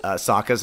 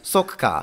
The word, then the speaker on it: Sokka: I booked that job because I mispronounced Sokka's name. It's spelled S-O-K-K-A. And I was like, oh, like Japanese, Sokka. Oh, so I'll call him Sokka. Sokka. Yeah, and it was like, nope. Apparently it's pronounced Sokka.